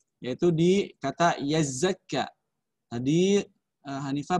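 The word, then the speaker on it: يزكى: Hanifah kesalahannya hanya di ayat 3, yaitu di kata yazakka. Tadi Hanifah bacanya yazakka. Kenapa saya katakan salah? Tadi karena saya dengar huruf zai di sini dengan zal sama kamu membunyikannya.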